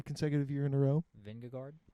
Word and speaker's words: Vingegaard: Vingegaard. Vindigo. It says, even though it's spelled guard, it's pronounced go.